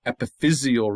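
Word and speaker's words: epiphyseal: But go to the adjective that describes that region, the epithesial region. And now the accent moves to the third syllable.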